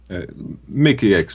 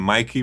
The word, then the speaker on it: Mickey X: Is that how you pronounce it, Mickey? Mickey X pretty much. Okay. It's like I call him Mikey, but he hates that.